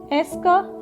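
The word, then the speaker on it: est-ce que: यूज कर सकते हैं, एस का हमने सबसे पहले यहाँ पर इसे प्रोनाउंस कैसे करेंगे? एस्क एस्क एस्क एस्क एस्क, यानी कि एस और क, एस और क, एस्क एस्क एस्क, राइट।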